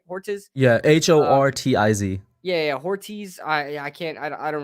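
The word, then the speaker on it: Hortiz: big fan of horrets horrits torches right horses yeah h-o-r-t-i-z yeah yeah ortiz i i can't i don't really know apparently according to a very creative person on twitter it's pronounced hordes so that's what i've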